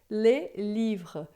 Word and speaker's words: les livres: E isso é muito importante, porque no plural, quando está escrito les livres, a gente não vai pronunciar o S, a gente vai dizer les livres.